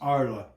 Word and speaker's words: Arles: his paintings was in it's spelled like Arles A R L E S but it's pronounced Arla and they've got an old Roman coliseum there and it's warmer.